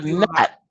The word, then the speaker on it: gnat: He's a gnat. He's a gnat. And I know that idiot thinks nat is spelled n a t, but it's not. You and I both know it's g n a t.